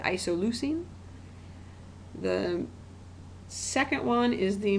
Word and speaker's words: isoleucine: these chemical formulas I should go ahead and pronounce them though so that first one up there is isoleucine kind of a fun word to say isoleucine the second one is the most fun to